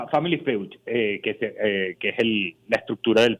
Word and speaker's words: Family Feud: se pronuncia Family Feud, que es la estructura del programa original, pues.